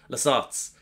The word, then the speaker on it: Lasat: there's actually a refugee camp just for lats lats that's how you pronounce them and he finds more than just